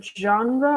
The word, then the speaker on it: genre: So, type, what by type we mean the genre of books, or yeah. genre can also refer to music or movies, different types of it. For example, the pronunciation of genre is a little bit strange.